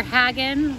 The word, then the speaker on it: Haggin: hagen museum and uh remember hagen like wagon that's how i remember